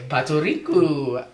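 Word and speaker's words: パトリック: Your name Patrick is spelled and pronounced Patoriku.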